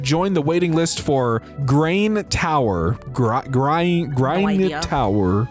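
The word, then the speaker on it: Gráinne: Pronounce it Grainne. Okay, so it is Grain or I I assume Grain. Pronounce it Grain, dear, like rain, not like that.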